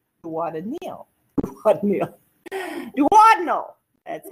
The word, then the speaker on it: duodenal: duodenal duoden meal what a meal what meal duodenal that's how you say it a duodenal ulcer